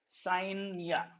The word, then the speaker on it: scientia: Now, this science term came from a Latin word that is known as scientia. Okay, what is that? Scientia. So it is came from a Latin word. The pronunciation is scientia.